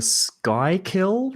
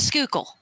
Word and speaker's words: Schuylkill: somewhere across the um is it the sky kill river is that how you pronounce it stop it's a Schuylkill where the [ __